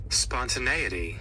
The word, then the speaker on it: spontaneity: Oftentimes when I don't know what a word is pronounced, I get to look at how it's pronounced and what it even means. Spontaneity.